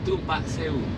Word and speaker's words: Tumpak Sewu: We're just on our way now to see the waterfall, so I believe it's called Tumpak Sewu. Is that how you say it, Aston? Tumpak Sewu. Okay, he knows better than me.